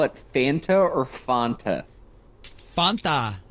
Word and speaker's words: Fanta: Fanta rhymes with wanna Fanta.